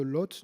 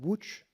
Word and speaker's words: Łódź: vous avez vient aussi, alors excusez-moi, je le prononce à la française, vous nous avez appris tout à l'heure comment le prononcer en polonais, l'école de Łódź, donc Łódź. Oui, beaucoup, j'ai appris beaucoup à Łódź,